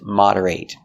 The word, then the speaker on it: moderate: Moderate with a short I sound moderate.